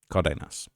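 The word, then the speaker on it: Cárdenas: Let me see how I pronounce that. Let me make sure I get that right. Cardenas.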